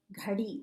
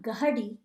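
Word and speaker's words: घड़ी: is geri gardi again do you hear how i'm saying the g and the h together there gary just like okay they're not two syllables it's one syllable it's not gagadi it's gary the g and the h go together kind of like they're attached at the hip and they're the same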